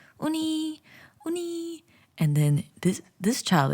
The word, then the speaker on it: Uni: It's spelled UNI.OONEE because that's how you pronounce her name, Uni.